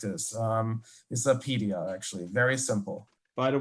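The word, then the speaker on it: Apidya: Very, very easy. It's just Apedia. Just Apedia. There's an I, not a Y. Apidaya. Apedia. No, it's Apedia, you know?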